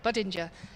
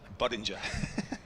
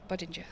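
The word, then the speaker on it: Budinger: it now than uh think of Budweiser. Other beers are available like Soul and other beers as well. Buddinger. Buddinger.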